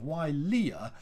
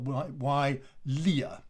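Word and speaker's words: Wilier: your from your studies if you have w i at the beginning of a word then that is pronounced y so you have y leah and then you add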